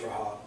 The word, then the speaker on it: Rahab: Only Rahab, and we call her Rahab just because it's easier to say, but if you're pronouncing that properly, it's Rahab.